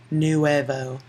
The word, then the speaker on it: nuevo: If you say it correctly, it starts with that new, nuevo.